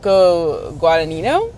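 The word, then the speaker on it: Guadagnino: Uh, Luc Guadanino is how I've heard it pronounced.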